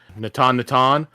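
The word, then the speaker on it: Natanatan: And this one's focused on Natan. Natan, the unclaimed hills and the shattered plains.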